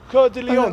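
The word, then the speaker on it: Cœur de Lion: Richard Coeur de Lion. Coeur de Lion. See, he's saying it the French way.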